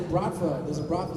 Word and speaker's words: Bratva: There's a Bratva star. Did I pronounce Bratva right?